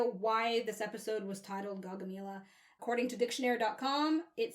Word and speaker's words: Gaugamela: Okay, so I wanted to have an idea why this episode was titled Gaugamela.